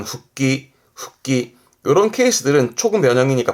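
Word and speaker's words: 復帰: 가에르 집에 가는 귀가의 귀자 이게 복귀하는 발음은 후끼 후끼 이런 케이스들은 초급 변형이니까 발음 챙겨두시고 그렇죠.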